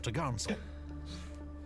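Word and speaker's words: topgallant: course four Top Sail pronounced topsel and four top gall s pronounced for to gel on the main Mast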